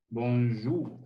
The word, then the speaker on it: bonjour: rato matías araujo bonjour se pronunciaba como si tuvieras mucho moco en la garganta tos hola bueno no